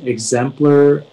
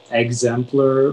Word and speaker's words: exemplar: Yeah, so it can be pronounced exemplar, exemplar, or exemplar.